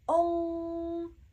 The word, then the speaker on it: ong: And pay attention how I am pronouncing this sound, because it's not just ong, ong, ong. You see, it's ong. You want to round your lips, ong, ong, as if you are pronouncing an O sound, but you are pronouncing an O sound, right? Ong, ong, ong. And of course, the sound is nasal.